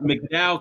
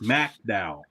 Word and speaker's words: McDowell: Yeah, it's not McDowell County in West Virginia. It's MacDowell. You gotta say MacDowell.